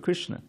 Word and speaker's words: Krishna: So the word Krishna is 2 syllables.